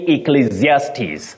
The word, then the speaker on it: Ecclesiastes: abuse Peter and lual of Elder you say Ecclesiastes Ecclesiastes and finally Victor mandila you say Elijah